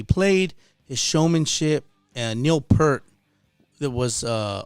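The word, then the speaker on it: Peart: his showmanship and neil pert that was uh our peer is how you pronounce his name neil peter from rush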